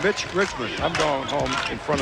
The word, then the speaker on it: Mitch Richmond: Said his name has been butchered by more people in this tournament, including us. He's been called Rich Mitchman. Milt Richmond. Rich Milman and it's Mitch Richmond.